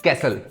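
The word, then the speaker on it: castle: कैसल okay, Rauni? T is silent और टी और दूसरा वर्ड है क्रिसमस।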